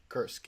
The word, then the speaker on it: Kursk: were taking back Kursk, is that how you pronounce it again? Kursk, yeah, that's correct.